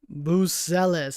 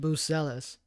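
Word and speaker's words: Buzelis: Buselis. That's how you say his name. Buselis.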